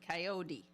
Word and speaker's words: Kayode: yeah it's kot coyote coyote with a d with a d coyot d That's what I said